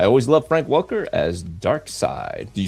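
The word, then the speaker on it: Darkseid: I used to say dark sea, but I think they pronounce it dark side.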